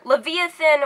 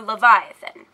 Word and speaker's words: Leviathan: next up is Leviathan there are two different ways to pronounce this it's either Leviathan or Leviathan I'm gonna go with Leviathan for now but you can say it either way the Leviathan is a